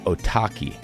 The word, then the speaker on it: Otaki: I've been obsessing with the name Otaki since Sportiva released the slick blue shoe a couple years ago. Rhymes with souvlaki.